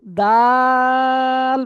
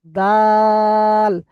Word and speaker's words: দাল: এটা দাল বলে শেষে টুপ করে ছেড়ে দেবে, দাল।